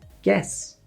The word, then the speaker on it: guess: After the letter G, U is often silent. Guard, you don't hear the U. Guess, no U sound.